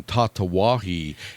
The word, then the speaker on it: Tatuaje: But Big Adam up in Boston, said, I laughed my ass off because you corrected Bryant on Tatawahi, yet you called the cigar sizes Vitola, which is just Vitola.